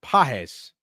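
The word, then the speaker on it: Pagés: The G is silent. Pages.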